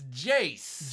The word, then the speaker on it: Jace: It's Jance, right? No. How do you say that one? It's Jace. Jace, okay.